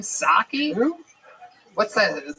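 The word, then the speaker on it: Psaki: Jen Pasaki. What's that chick's name? Saki. Who? What's that? The Jen Saki. Is that how you say it? You don't say the P at all.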